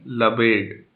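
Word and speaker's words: Lebesgue: लबेट, ये है प्रोनाउंसिएशन लबेट, लबेट की डेफिनेशन जो है, जिसको आप इससे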